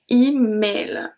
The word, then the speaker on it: email: So this one is a word from English origin, so we are pronouncing it exactly the same. So the E becomes I, email, mail. So here the AI is also pronounced E.